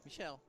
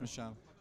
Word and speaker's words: Michel: Is it How do you pronounce your name? Michel. Michel. We wouldn't have pronounced it wrongly. Because it's not wrongly, it's Michel.